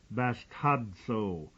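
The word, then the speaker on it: βαστάζω: word b a s t a zoo is pronounced basto it's from a derivation meaning removal to lift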